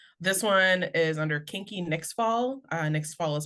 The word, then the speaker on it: Nyxfall: This one is under Kinky Nixfall. Nixfall is spelled N as in Nancy, Y X F is in Frank, A L is in Lima, L is in Lima. Kinky next fall.